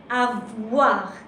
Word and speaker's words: avoir: O-I, O-I in French, because you pronounce this E. It sounds like these two letters. They make a new sound, wa, avoir, okay?